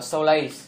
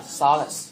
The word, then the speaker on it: solace: Và nhớ cái từ solace này chúng ta xoa âm thứ hai, chúng ta không đọc là solace, nghe? Đấy, nó là solace, nghe?